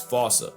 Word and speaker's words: fossa: It's just that the global game of telephone has American like it fa while England pronounces it as Fauca. So if your point of reference is the movie, it's the fa. If it's sat at borrow or the wild thornberries, it's fauca.